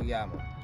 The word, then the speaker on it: Yama: place is uh Taco Yama Taco Yama yeah Taco Yama it looks like taco llama but I'm told us pronounced Yama oh okay okay yeah